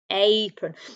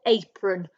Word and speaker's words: apron: a prun apron now these both ending on and sometimes because of the way we talk we might not say it as on we might say bacon or apron okay but we have to remember that it is actually an o n at the end bacon and apron okay